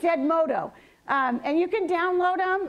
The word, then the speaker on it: Edmodo: I don't say it right, I want to say Edmundo. It's Edmodo.